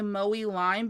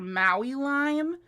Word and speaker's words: Maui Lime: feels weird to me to say Mowy Lime because I always call her Maui Lime and she's like, "No, it's actually Mowy Lime." But you know what? It's kind of fun for me to mispronounce it.